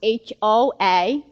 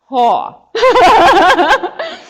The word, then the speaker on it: Hoa: My name is Hoa, and everybody's thing is Hoa is H-O-A, but people think it's W-A, that is awesome, because that's how you pronounce it, that Hoa.